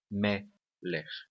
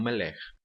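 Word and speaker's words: מֶלֶךְ: A tonicidade da palavra melech está na primeira sílaba, melech, tá bom? E não melech.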